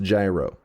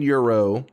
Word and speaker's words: gyro: The Cambridge dictionary said it's pronounced gyro. Thus, anybody saying euro is wrong.